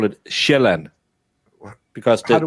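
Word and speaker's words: Sjælland: We call it shellan because the j makes a j sound. So it's land. But in English you pronounce it sealand.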